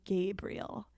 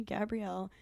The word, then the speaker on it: Gabrielle: And I realized he was just mispronouncing Gabrielle because shortly after he said that, he left the room. And I was like, okay, there's no one in the class named Gabriel. Like, there's only me, Gabrielle.